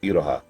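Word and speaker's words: Iroha: apprentice from the future, which I actually looked up is apparently pronounced Idoha, which yeah, that makes sense.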